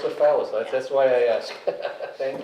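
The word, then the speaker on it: Falis: I'm Salis phace with an F A fallace that's why I asked thank you so this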